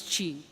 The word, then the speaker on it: Qi: believe in so basically she okay Qi is pronounced as Qi Qi means energy prana vital force or bioelectricity